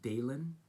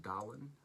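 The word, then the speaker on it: Dahlen: Bad Bill Dalen, and his name is pronounced Dalen. I think a lot of people think it's pronounced Dolan.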